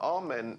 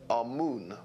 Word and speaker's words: Amun: Now, Amen is the pronunciation that the Hebrews give it, and some scholars agree to use that pronunciation. Amun is the pronunciation given to it by one of the old European scholars, Plutarch.